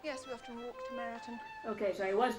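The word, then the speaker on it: Meryton: most invigorating yes we often walk to maritan okay so I was pronouncing it right meritan oh I wasn't expecting that adoption I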